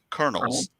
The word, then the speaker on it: Colonels: doing like how Che how are you supposed to say it Colonels like a popcorn okay okay okay because